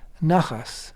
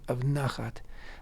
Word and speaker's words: nachas: Nachas, right? Nachas is used often. That's a Yiddishized pronunciation of nachat.